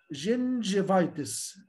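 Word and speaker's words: gingivitis: برضو لو انا شفت كلمه جينجيفايتس، شوف كده جي بعديها الاي، جينجيفايتس اللي هو التهاب اللثه، فطلع بصوت سوفت.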